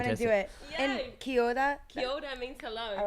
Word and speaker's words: kia ora: So when I greeted you before, I said kia ora. And you were like, what did you just say? That was very good. Beautiful pronunciation.